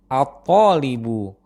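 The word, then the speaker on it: الطالب: Hal yang sama berlaku untuk contoh kata tholibun. Jika didahului oleh alif lam tertentu di awal, pengucapannya menjadi ath-tholibu.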